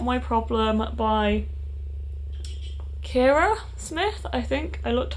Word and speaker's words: Kira: the first one is not my problem by kira smith i think i looked up how to pronounce her name so long ago but i'm pretty sure it's cara smith and i read the falling in love